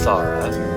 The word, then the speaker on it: Sar'h: The next song I pronounce as Sar'h.